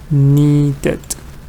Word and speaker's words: needed: it goes into um no it's not one because the word I mean the pronunciation is neat when you say need the pronunciation is neat when you add Ed you're adding an extra sound which is like this knee needed needed so it does not go under column one column one is like